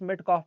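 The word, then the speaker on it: Metcalfe: Sir Charles मेटकॉफ में कॉफ आता है जो कॉफी जैसे प्रोनाउंस होता है।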